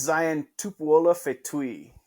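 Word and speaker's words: Zion Tupuola-Fetui: Steve, do you want to give us a quick pronunciation lesson before we wrap? Yeah, it is Zion Tupuola Fetui.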